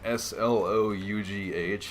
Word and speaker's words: Slough: me if I'm right it's SLO ugh and it's pronounced Slough so if you're an